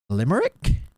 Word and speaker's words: Limerick: And then she's like, I've just been told by some of my fans that it's actually pronounced Limerick.